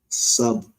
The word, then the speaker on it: subtle: Subtle.